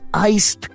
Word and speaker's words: iced: Always pronounce the D in iced coffee.